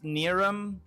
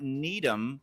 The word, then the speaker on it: Niram: So it's like it's not Needham and it's Niram.